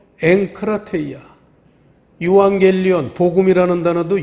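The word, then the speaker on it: ἐγκράτεια: 우리 한글에도 왜 무슨 부음 법칙, 연음 법칙, 무슨 이런 법칙이 있듯이 이 헬라어에도 법칙이 있어서 에크라테이아라고 그러질 않고 엥크라테이아.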